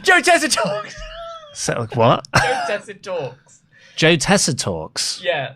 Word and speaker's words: Tessitore: Getting your Joe Tessitores. Joe Tessitore! Joe Tessitore! So, what? Joe Tessitore.